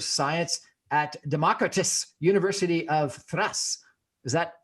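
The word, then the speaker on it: Thrace: his bachelor of science at democritus university of thrass is that pronounced at all right that's correct actually democracy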